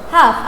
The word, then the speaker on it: half: Please look at the first word, half. As I said guys, here the letters L is silent. Half past, not half past.